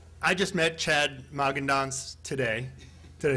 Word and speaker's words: Magendanz: I just met Chad Magendanz today.